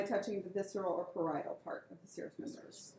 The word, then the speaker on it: parietal: membrane which is called parietal you say that please parietal in the accents is on the eye okay parietal serous membrane